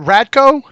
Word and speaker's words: Radko: How do you pronounce? Is it Radko?